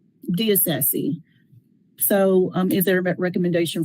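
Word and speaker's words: DeIsasi: I believe it's D. Isasi. It's D-E capital I-S-A-S-I. Diocese.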